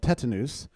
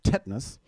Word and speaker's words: tetanus: get a disease called tetanus, and which some people pronounce tetanus, I think wrongly. It's not the way it's spelled. It's Latin.